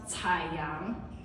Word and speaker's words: Chaang: on my middle name chaang in Mandarin it's pronounced taang you can practice that okay but what it